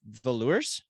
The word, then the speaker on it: Velours: if i'm wrong it the stage name is pronounced velours silent s on the end velour it's french right so it's like velour you are you should